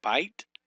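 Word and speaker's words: בַּיִת: Okay, here you have bite. Here you have bite for house, and shemaim is heaven. Bite is house. Again, this is a monosyllable, bite.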